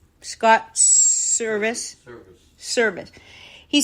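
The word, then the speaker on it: Servais: Service.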